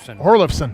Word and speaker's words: Horon: H how about that horon horon yes that's how you pronounce it Eric Eric horon yeah